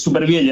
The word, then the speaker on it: Supervielle: Es Supervielle. Nosotros lo pronunciamos, por lo general, tal como se leería en español.